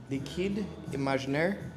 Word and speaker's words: Liquide Imaginaire: Rosa from the company Liquide Imaginaire. So my French is horrible, but I was told by one of the owners that that's the way how the brand is pronounced. The name is pronounced.